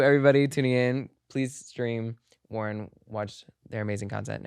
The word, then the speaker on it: Wuhryn: And you can find me on social media at Wuhryn, Wuhryn. My full artist name is Wuhryn. The S is silent.